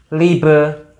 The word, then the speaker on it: liebe: Liebe, IE, I dibaca I doang.